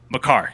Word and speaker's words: Makar: Ben, you did not just say Maker. Kale. Sorry, Kale. Makar.